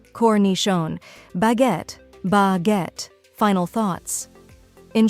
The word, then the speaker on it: cornichons: Some examples include salami, suh-lah-mee, prosciutto, proh-shoo-toh, pâté, pah-tay, fromage, froh-mahzh, cornichons, koh-nee-shohn, baguette, bah-get. Final thoughts. In short, mastering the pronunciation of charcuterie is a valuable skill for any food lover or culinary professional.